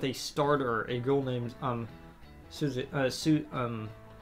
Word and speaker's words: Suzui: Takamaki's BFFs with a starter, a girl named Suzui. I believe that's how it's pronounced. It's like Susie. Yeah, it's literally like Susie, but it's pronounced in a Japanese style. It's like Suzui.